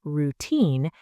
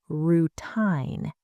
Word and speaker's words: routine: Some students let their tongue move a lot when they say it, so instead of saying routine, they say routine.